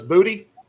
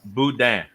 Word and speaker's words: boudin: Did you say the N is silent? Yeah. So it's booty? No. Boudin.